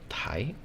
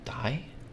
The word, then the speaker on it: 大: So basically, that kanji can be read as tai. It could also be dai, or it could also be o.